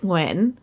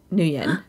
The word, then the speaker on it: Nguyen: horror movies all day i'm nguyen but you can call me two yet new year i love that okay